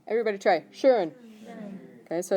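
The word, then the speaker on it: schön: over the O how would you say that shurn everybody try shurn okay so it's pronounced sh ear okay and that means nice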